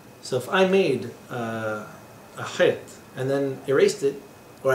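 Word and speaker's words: ח: And it's pronounced Het in Hebrew, and I erase a stripe right down the middle.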